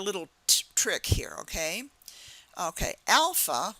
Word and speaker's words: alpha: trick here okay okay Alpha maybe you can think of somebody you know by the name of Al all right and um I'm trying to think Alp like Al is alpha alpha beta B beta